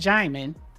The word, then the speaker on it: Djimon: It's pronounced Djimon.